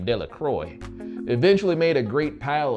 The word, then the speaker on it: Delacroix: Bobby and Harry Jones and Dickie Delacroix, the villagers pronounce this name Delacroix, eventually made a great